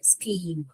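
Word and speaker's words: scheme: कर का प्रोनाउंसिएशन किया मान लीजिए यहां पर क नहीं करके मैं श कर रही हूं श ईम शीम पढ़ना आएगा गलत है मान लीजिए च पढ़ रही हूं श चम शचीम ऐसे आ रहा है वो भी गलत है हमको यहां पर स्क ई पढ़ना है स्कीम okay right is इट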